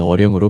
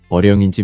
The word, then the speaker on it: 어령: 어렸을 때는 의영이었어. 어자를 서울 근교에서는 으로 발음했거든. 그러더니 표기할 때는 언영이가 됐어. 이화여대 시절에도 이언용 교수로 불렸지. 한데 교육부 교과서에는 어령으로 표기돼 있어요. 영자를 영으로 소금화해서 읽었거든. 나는 지금도 내 이름이 의영인지, 언영인지, 어령인지 모르겠어.